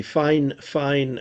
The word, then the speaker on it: Fifine: the sennheiser microphone okay now we have the fine fine microphone and now we have the m audio